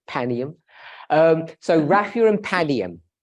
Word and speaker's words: Panium: RAF pum or P I say panium I agree with you proper way to say it panium um so Rafia and